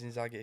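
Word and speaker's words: Inzaghi: So many people have told me you say Inzi in I say in Zagi ain't it? It's in Zagi. But it is in But people you say it wrong. There's no R before the G.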